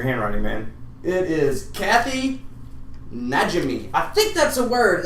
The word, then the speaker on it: Najimy: man it is Kathy najimi I think that's a word I think that's the way you pronounce it n a j i m y nimy Najimy I don't know but